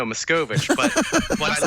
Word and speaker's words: Machkovech: Sam, am I saying it right? Machkovech? Not even close. No, Machkovech.